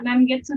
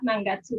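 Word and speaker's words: 何月: Kongetsu wa nangetsu desu ka? Kongetsu wa nangetsu desu ka? Kongetsu wa nangatsu desu ka? Nangatsu. Ya, cara bacanya beda, tapi kanjinya sama.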